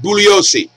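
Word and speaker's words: Bugliosi: he really by Vincent buosi the g is silent he always read his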